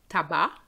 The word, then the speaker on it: tabac: There's two words I can think of where the C is silent, tabac, and bon, bon. Je répète, tabac, bon.